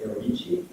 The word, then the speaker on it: Gherovici: but I will introduce uh Patricia arichi will be the English pronunciation who is a psycho